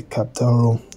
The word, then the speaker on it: Caphtorim: and replace it with either Caphtorim or some variation thereof, with the emphasis on the first syllable, as is customary in Proto-Asian languages.